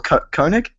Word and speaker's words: Koenig: Theodore Koenig. Is that how you pronounce that?